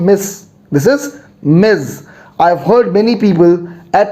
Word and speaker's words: Ms: you means miss the z sound say after me miz not miss miz all right great so